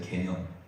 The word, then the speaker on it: 개념: 가운데 개념이라는 말이 있어요 개념 발음 잘하셔야 미음 쓰셔야 돼요 니은 쓰시면 큰일납니다 개념인데 어떤 사람 아